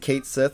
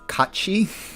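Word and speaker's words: Cait Sith: names yeah we're gonna keep it I'm gonna pronounce it Kate Sith because that's the traditional way people pronounce it but that is actually pronounced Kachi because it's um it's like Gaelic um it's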